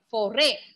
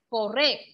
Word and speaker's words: forêt: Okay, see in French with this accent we will read foray, foray. There is no change in pronunciation.